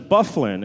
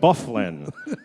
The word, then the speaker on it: Byfuglien: of course it's Dustin Byfuglien it looks like Dustin by fuglie and if you look at the name but somebody called down and said hey they pronounce that Byfuglien I said you got